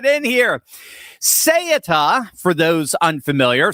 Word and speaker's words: Ceuta: Ceuta, for those unfamiliar, some call it Sayuta, there's a bunch of different pronunciations, but I generally say Ceuta, it's a tiny Spanish enclave sitting on the northern coast of Morocco.